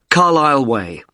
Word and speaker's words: Carlisle: i s l e you don't pronounce the S Carlisle way and that's in Lewis